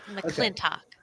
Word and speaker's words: McLintock: McLintock. The last syllable is talk, like a clock. McLintock.